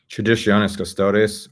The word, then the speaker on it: Traditionis Custodes: Traditionis Custodes, or just TC.